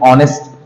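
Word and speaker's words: honest: एन ई एस टी अब इसमें एच के बाद जब ओ आता है तो एच को पढ़ा नहीं जाता यहां से पढ़ते ऑनेस्ट ये वल का उच्चारण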